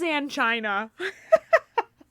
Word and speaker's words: angina: It is angina.